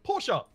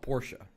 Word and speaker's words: Porsche: Also, Porsche, thank you very much. It's not Porsche. It's Porsche.